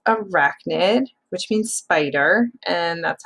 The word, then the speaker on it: arachnid: so she could weave forever and that says arachnid which means spider and that's how you pronounce it uh rack nid now we're going to look at a spider's